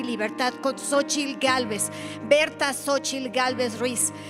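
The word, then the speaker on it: Xóchitl: liderados por una mujer cuyo nombre se escribe con la x de México sochil Gálvez cuán grande Cuán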